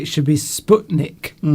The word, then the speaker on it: Sputnik: It should be Sputnik. Sputnik. Thank you. Yes. As in butcher.